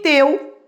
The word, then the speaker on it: teu: Sem olhar para o quadrinho, eu percebo na pronúncia que o E é mais forte que o U.